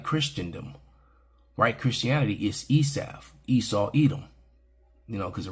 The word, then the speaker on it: Esau: White Christianity is Esav, Esau, Edom. You know, because the rabbis say Esav. It's kind of fun saying it that way. So, but it's pronounced, you know, in English, it's pronounced Esau and Edom.